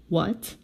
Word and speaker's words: what: to tell you something when the word begins with W sound and the next sound is H this H is silent most of the time okay okay let's read w what a bad dog what